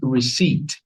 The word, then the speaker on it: receipt: So, this word here is pronounced receipt. The P is not pronounced.